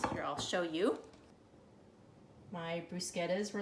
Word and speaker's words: bruschetta: wanted me to make bruschetta, which I have been pronouncing wrong. Apparently for years I've been pronouncing it bruschetta, but bruschetta is a Italian appetizer that's made with tomato and basil.